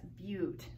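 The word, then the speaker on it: but-: have four carbons that's Butte you know it's like but it looks like the conjunction but we pronounce a few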